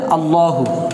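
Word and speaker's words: اللّٰهُ: কেমন, আর এখানে আল্লাহু, তো কি হবে, উচ্চারণটা হবে আল্লাহু।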